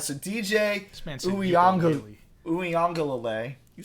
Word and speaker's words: Uiagalelei: I'm sorry, I don't know how to pronounce his last name, but DJ Ugalele. DJ Uiagalelei. Uiagalelei.